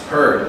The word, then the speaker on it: heard: And heard. H E A R D. Yes. H E A R D. Okay. So, you're correct. Good job. Silent A. Can't hear the A.